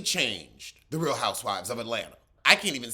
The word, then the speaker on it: Atlanta: It's Atlanta, not Atlanta.